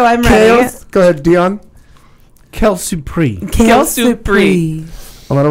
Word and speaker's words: quelle surprise: How Say it correctly, because I only speak Lancôme French. Quelle surprise.